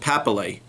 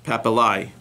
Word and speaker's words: papillae: The pouch has like these little thing called papillae, which papillae. Papillae, P-A-P-I-L-L-A-E.